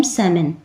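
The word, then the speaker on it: salmon: अह जैसे इसमें जो एल होता है वो साइलेंट होता है। इसे रीड नहीं किया जाता। इसे पढ़ते हैं हम सेमन।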